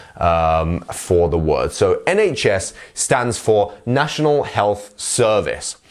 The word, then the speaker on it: NHS: and yes so um NHS remember to get that h sound in the middle and we will actually